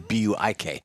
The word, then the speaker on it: Buick: Zekin has a look at the 2017 Buick Regal. Buick Regal. Actually, that's not very far off on the original pronunciation. It's actually Buik.